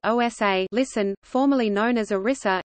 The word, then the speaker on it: Odisha: Adisa Odia erisa pronounced OSA listen formerly known as ERISA is one of